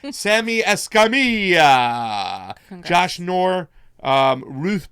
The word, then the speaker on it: Escamilla: Escamilla. Thank you. He put the pronunciation Thank you, out.